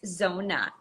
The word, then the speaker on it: Zona: of messing it up it's Zona z-o-n-a Zona very simple very easy yes welcome so we